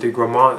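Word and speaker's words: de Gramont: known as the uh Marquis Vincent degroman I think that's how you pronounce his name and he's like a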